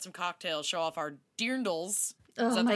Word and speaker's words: dirndls: This is just for us to hang out with you, get some cocktails, show off our dirndls. Oh, is that the right way to say it? Yes, dirndls?